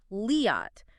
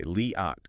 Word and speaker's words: Liat: you're truly engaging with the material leat is pronounced leot with the long a sound okay leot got it and Nissim Nim emphasizing the first